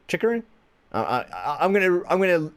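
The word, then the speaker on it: Chychrun: because it's bugging me i finally learned how to say someone's name chicarin whoo let's go alright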